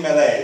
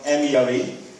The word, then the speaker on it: Mele: My name is Mele. That's spelled M-E-L-E. Mele is the Italian word for apples.